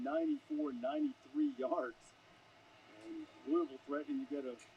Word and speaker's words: Louisville: And it's Caleb Warren, a sophomore from Louisville, Mississippi, where they pronounce the S.